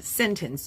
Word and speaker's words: sentence: This word can be pronounced sentence. You are not wrong. Show me a dictionary that will say there's no letter T in there.